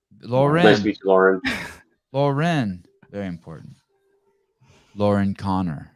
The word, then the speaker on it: Lauren: Lauren. Lauren's. Yes. Lauren. Nice to Lauren. meet you, Lauren. Lauren. Very important. Lauren Connor. Yes. Lauren Connor. Lauren, just regular Lauren.